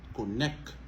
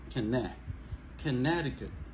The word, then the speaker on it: Connecticut: séance c'est k en p monde qu' dit connect c'est ça pas prononcer pas dit connect on dit conneticut conneticut ok canneicut donc à partir de ce